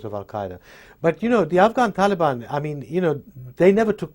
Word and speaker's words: Taliban: And what's the right way to pronounce it? Taliban is the right way to pronounce it.